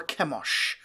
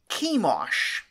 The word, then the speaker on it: Chemosh: various levels of reliability, to Chemosh, to make it rhyme with Beosh, a word meaning stench.